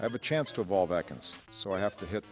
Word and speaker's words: Ekans: It's pronounced Ekans, you fool.